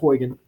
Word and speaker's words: Huygens: his last name h gy g en is pronounced wagon um he said that every point on a